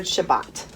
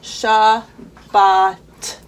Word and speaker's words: Shabbat: familiar with let's start with the word Shabbat so Jean sha but now I'm going so slow sha baht and you just start here sha ba Shabbat so say it slow and then say it fast just like you would